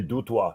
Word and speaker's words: Du Toit: do you pronounce it it depends if you're in france you could say dutwa it means on the roof like peter was praying